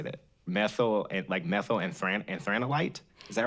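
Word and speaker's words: methyl anthranilate: Methylenthranolate. So let me try to say that. Methyl and anthranolite? Is that right? Methylenthranolate.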